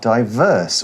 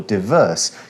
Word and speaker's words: diverse: And what we're trying to highlight is that cities are diverse or diverse. You can pronounce that two different ways.